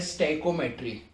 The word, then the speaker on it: स्टोइकोमेट्री: Topic की heading है स्टैइकोमेट्री, या हम इसे कहते हैं स्टोइकोमेट्री। कोई भी प्रोनाउंसिएशन अलग अलग हो सकती है। स्टैइकोमेट्री या स्टोइकोमेट्री। इसमें हमने क्या करना है, रिएक्शंस में मोल कॉन्सेप्ट यूज करना है।